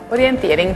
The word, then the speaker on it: Orienteering: Orienteering, bisogna pronunciarlo bene perché lo ridica un po', Orienteering, Trail Orienteering.